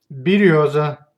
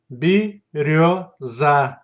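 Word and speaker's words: берёза: If the word has the letter yo, it's always stressed. If the letter yo follows zh or sh, then it's pronounced like o. Let's see examples. Береза, береза, береза.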